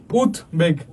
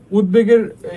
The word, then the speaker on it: উদ্বেগ: লাগা হসন্ত আচ্ছা তারপরে উত উপসর্গ বাউত উপসর্গের পরে বা সমাসবদ্ধ শব্দের সাথে বফলা থাকলে বফলা উচ্চারিত হয় যেমন উৎবেগ উদ্বেগের কি হবে তোমার কি বলে যে উপসর্গ বা শব্দটাকে ভাঙলে কি হবে? উত আর হচ্ছে বেগ। উদ্বেগ। তারপর এভাবেই কিন্তু লিখতে হবে।